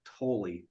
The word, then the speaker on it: Tolle: of Now by Eckhart Tolle yep and uh is it totally so yeah yeah and um spell totally yeah what's that it's spelled totally but I think he calls it toll yeah and and he